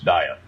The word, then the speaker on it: Dieth: cause whatever you want but we call ourselves diet okay in fact that's our new hashtag we